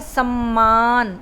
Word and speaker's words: सम्मान: समान, समान का मतलब है इक्वल, बराबर, और एक है सम्मान, इसका मतलब होता है आदर, इज्जत, मान देना।